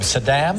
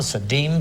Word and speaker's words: Saddam: call it saturn but what do you call them saddam saddam saddam saddhim saddum you say it like president bush the first yeah it's adam adam we're going to get